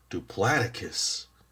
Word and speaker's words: Diplodocus: Diplodocus. Okay, so that's how it's pronounced. Diplodocus.